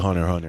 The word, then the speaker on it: Hunter x Hunter: We all know that X is silent. Yeah, sure. Well, for the people watching, I call it Hunter x Hunter, which is fair.